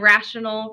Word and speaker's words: rational: called a rational number and rational rhymes with fractional